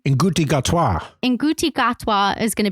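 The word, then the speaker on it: Ncuti Gatwa: Nguti Gatwa.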